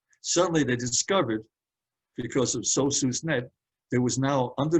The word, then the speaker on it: SOSUS: I'll pronounce it SOSUS net.